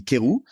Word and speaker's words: Querou: If you want the pronunciation like perfect, it would be Querou, but I'll go with it.